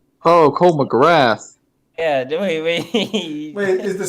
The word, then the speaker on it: McGrath: McGarth? Is that how you pronounce his name? Oh, Cole McGrath.